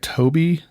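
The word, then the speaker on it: Tobii: So, they say it it uses a program, I I want to pronounce this right, Toby uh Tob T O B I and it looks really interesting.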